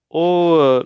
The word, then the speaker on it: ho: Ho fame, I'm hungry, or literally translated, I have hunger. So the short words, o and a, the h is silent, are two forms of the verb to have in Italian.